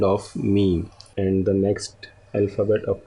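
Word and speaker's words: میم: And the next alphabet of today's lesson is meme. Meme. Okay, and in English language it is pronounced as meme.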